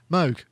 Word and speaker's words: Moog: so massively huge what sound so massively huge Moog I did I said it right yeah first